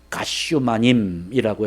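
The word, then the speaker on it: גת שמנים: 겟세마네라고 하는 말의 의미가 원래 본토 발음으로 하면 가쇼마님이라고 해야 되는데요 그 가치오마님이라고 하는 단어는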